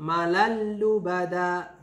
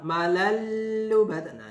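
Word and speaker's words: مالا لبدا: kemudian Hai Malala lubadaa cara bacanya jadi malan lubadaa enggak boleh ditemukan maln lubang itu berarti salah yang benar adalah malan lubadaa langsung ya Jadi kayak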